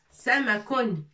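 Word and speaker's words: سَمَكٌ: Sin avec le trait dessus, ça veut dire fatha, on prononce sa. Mim avec fatha ma. Et kun, sa ma kun, kaf l'akhir.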